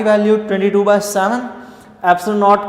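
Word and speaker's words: epsilon: पाई की वैल्यू 22/7, एप्सिलॉन नॉट की वैल्यू आपने ये पुट कर देनी। ये जो एप्सिलॉन है इस वर्ड को आपने प्रोनाउंस यूँ करना है, ये ग्रीक लैंग्वेज का वर्ड है एप्सिलॉन, ठीक है, और ये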